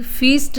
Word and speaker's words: feast: इसको हम फीस्ट बोलेंगे, जबकि इसको फिस्ट बोलेंगे क्योंकि इसमें छोटे की मात्रा यूज होती है, फिस्ट, और ये हमारा फीस्ट। फिस्ट मीन होती है दावत। स्पेलिंग में भी थोड़ा सा डिफरेंस है। यहाँ पर हमारा आई होता है, यहाँ पर EA होता है। आई होने की वजह से ये फिस्ट, और EA होने की वजह से फीस्ट, यानी बड़ी ई का हम प्रोनाउंसिएशन यूज करेंगे।